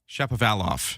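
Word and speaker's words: Shapovalov: Chappavalof is how you say Dennis Chappavalof's name as he plays at Wimbledon today.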